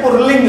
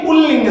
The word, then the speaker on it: पुल्लिंग: कई बार आप लोग जब उच्चारण करते हैं तो पुल्लिंग ना करके पुरलिंग बोलते हैं, पुरलिंग। तो यहाँ पुरलिंग शब्द नहीं है बल्कि ये पुल्लिंग शब्द है, पुल्लिंग।